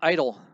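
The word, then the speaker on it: Eitel: And his name is Derek Idle. No relation to Billy Idle, by the way. It's spelled totally different.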